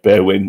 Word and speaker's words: Berwyn: Only I think the best way to think about it is Bear and a win at the end, Berwyn or Berwyn, if you wanted to roll your R's.